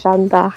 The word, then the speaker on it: Jeanne d'Arc: But yeah, in French it's like Jeanne d'Arc.